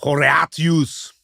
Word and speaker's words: Horatius: And how would we pronounce this in classical Latin, Jordan? Horatius.